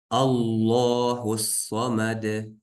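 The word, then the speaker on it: اللَّهُ الصَّمَدُ: Аллаху самад. Здесь сразу же переходим на сад, потому что если не читает в середине, мы сказали, и лям, когда пустой, также не читается.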